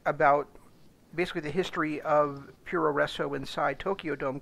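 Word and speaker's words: puroresu: bit racist, but basically, for the Japanese way that they would say, with the way that they pronounce American words, professional wrestling. It would come up as Puro Refo Professional, Puro Refo Resso Ringo, and so that's been shortened over the years to Puro Resso.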